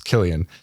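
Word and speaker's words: Cillian: screaming every time I hear pronounce it's Killian Killian plays Robert Robert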